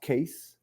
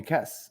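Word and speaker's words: Kees: I mean, my actual name is KWS, so it's a Dutch name. Mm-hmm. But it's pronounced case. But Keys. in English speaking Trinidad, they call me Kes, and I knew myself as Kes from since I was a kid.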